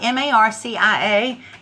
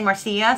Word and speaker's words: Marcia: See, it's spelled M-A-R-C-I-A. And I wanted to say Marcia so bad all the time. And she finally corrected me. She said, it sounds like Marcia.